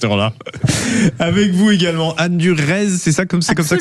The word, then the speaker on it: Durez: Avec vous également, Anne Durez, c'est comme ça que ça se prononce.